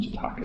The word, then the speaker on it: Jataka: I pronounce it Jataka tales. I don't know how anybody pronounces it.